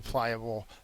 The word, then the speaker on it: pliable: So pliable is an adjective. The first syllable is accented. It means easily bent or flexible. So a gymnast or a dancer would be pliable.